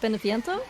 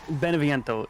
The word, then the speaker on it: Beneviento: even gonna try to pronounce that can you pronounce it for me wait what benifiento beneviento yeah there we go uh this is kind